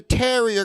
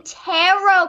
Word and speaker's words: tarot: no i'm talking about the terrier cars the cars with the little doggies on them oh oh you mean tarot cards oh that's right yeah i thought you were saying it wrong yeah it's probably because